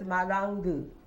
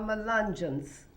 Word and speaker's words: Malungeon: Actually, the Angolans call themselves Malangu. Malangu means we came on the same ship. Yes. We came on the same ship, but they mispronounced it, called Malungeons.